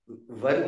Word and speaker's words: were: वर को तुम लोग को स्कूल में वेयर वेयर बुलवाया जाता था, अब उसका उच्चारण वर होता है।